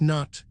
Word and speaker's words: Nut: The goddess Nut, a name that rhymes with boot, was imagined as arching over the earth, her body forming the vault of heaven itself.